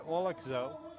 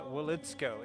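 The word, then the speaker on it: Woliczko: Maniaka, Lainey Grant, McKenna Wolakzo, and Haley Swain. Those are the starting five for United States. And I apologize, McKenna Wolitsko is the correct pronunciation.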